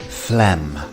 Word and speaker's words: phlegm: Phlegm.